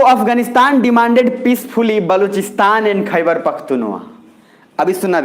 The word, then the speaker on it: बलूचिस्तान: तो इसको बहुत लोग बोलते हैं बल्टिस्तान, वो मत समझिएगा, अभी सीधा बलूचिस्तान रखिएगा।